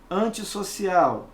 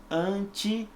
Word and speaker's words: antissocial: r entre duas vogais como é que você pronunciaria anti-racista não é essa nossa intenção antissocial repare as letrinhas são diferentes não há necessidade